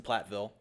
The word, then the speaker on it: Platteville: University of Wisconsin, Platteville. Did I pronounce that correctly?